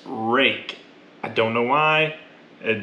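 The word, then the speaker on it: Ruike: man all right now while this says r-u-i-k-e it is however unlikely it is it is pronounced rake i don't know why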